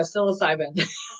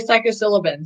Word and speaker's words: psilocybin: it and sound like there you go psilocybin i was going to say psychosyllabin so um i'll just